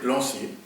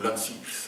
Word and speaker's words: Lancier: Et il y a eu un père belge qui s'appelait Hubert Lancier, ou Lancy, selon les prononciations qu'on voulait bien lui donner, qui s'est occupé de